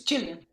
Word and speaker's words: Gillian: Oh, and I have an important question, which is it a hard G or a soft G in Gillian? It's Gillian. As in Gillian Anderson.